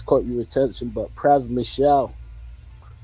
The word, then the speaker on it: Pras Michel: I don't know if it's caught your attention, but Pras Michel, I believe it's pronounced, or Praswell, formerly of the Fugees.